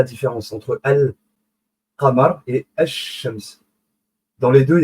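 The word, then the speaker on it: الشمس: C'est là la différence entre El Qamar et Ash-Shams. Dans les deux, il y a l'article Al pour dire la soleil ou le lune. Vous voyez? Al, l'article Al. Mais il n'est pas prononcé.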